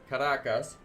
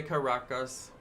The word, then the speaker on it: Caracas: Caracas. Some people say Caracas. She says Caracas, and that's why I say Caracas.